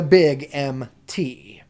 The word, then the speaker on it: Big MT: No, you're more likely to pronounce it phonetically, and when you come back to your village, you're going to tell everyone how you found the Big MT.